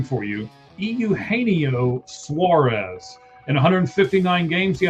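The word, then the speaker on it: Eugenio: I'm going to help you pronounce his name for you. Euaneio Suarez.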